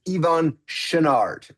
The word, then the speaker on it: Yvon Chouinard: And the way you pronounce the founder of Patagonia's name is Yvon Chouinard.